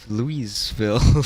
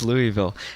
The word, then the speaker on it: Louisville: 350 from uh indy to uh louis of louiseville lewisville um butchering the pronunciation of course now i gotta know how you hype now louisville okay it's just louisville anyway going up from uh indy to kentucky